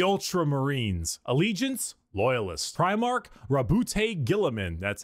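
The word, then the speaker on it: Guilliman: I do remember Gilliman.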